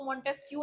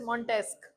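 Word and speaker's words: Montesquieu: मॉन्टेस्क, इसको मॉन्टेस्क क्यू नहीं पढ़ना है, this is मॉन्टेस्क। क्यू यू ई is pronounced as क, मॉन्टेस्क।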